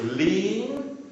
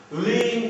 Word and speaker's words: lien: You know the word lien? Lien is a legal claim against property to possibly satisfy an unsatisfied debt. It's pronounced as lien.